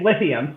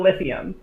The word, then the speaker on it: l1l1th1um: all a bit slow just so everybody knows how it's pronounced because it runs into a problem occasionally my name is and it's lithium so little lithium there you go you have all been told battery is how i